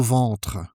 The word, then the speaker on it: ventre: You might not notice the difference with a at first, because English doesn't have this sound, so it's a bit tricky to pronounce.